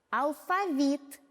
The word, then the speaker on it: алфавит: Для удобства ударный слог, гласную в ударном слоге, обозначила красным цветом. Давайте прочтем вместе. Алфавит, банты, нет бантов, голоден,